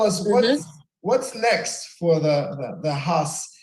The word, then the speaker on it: Haus: So tell us what's next for the Haus. It's House or is it Haus of Artistry? How do you pronounce it? Right, you're right. It's the House of Artistry. The House, Haus.